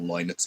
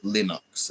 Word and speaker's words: Linux: I'm going to ask Grock, how is Linux pronounced? Break down lie like the word lin or linen nux ducks. Oh, so it is linux according to that. It's not linux as in you're saying lin or lenux.